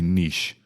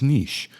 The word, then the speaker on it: niche: notice I didn't say Niche or Niche however you choose it's a French word the proper pronunciation I have learned is Niche so it doesn't matter